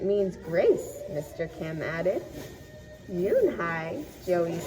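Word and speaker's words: Unhei: "Yes, it's pronounced Yoonhai, and it means grace," Mr. Kim added. "Yoonhai," Joey said, slowly, and this time perfectly.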